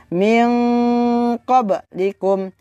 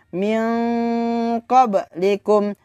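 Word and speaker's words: مِنْ قَبْلِكُمْ: Min qablikum, min qablikum, min qablikum, min qablikum. Jadi bukan dibaca min qablikum, akan tetapi dibaca min qablikum.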